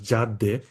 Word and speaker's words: CADDE: R&D project it will called as cadde we uh pronounce this uh terminology as Jad Jad 4.